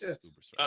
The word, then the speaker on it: Ubersreik: in Uber strike it's Uber strike right yes Uber strike okay I said it right um you know